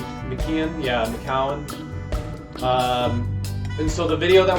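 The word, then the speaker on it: McKeown: a book called the oxygen advantage by Patrick McCann if I'm pronouncing his name correctly you can yeah McCowan and so the video that we're going to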